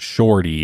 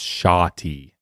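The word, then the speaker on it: shawty: a different thing right it's not shorty it's shoty you need a lesson right now what's going on it is spelled sh h a w shoty that's like a I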